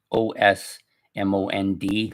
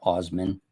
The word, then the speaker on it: Osmond: the Osman Brothers and I think it's spelled S O S M O N D like Osmond, not Osman.